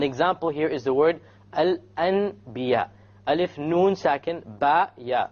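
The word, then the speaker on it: الأنبياء: So we don't pronounce it Al-An. We change the Noon into a Meme.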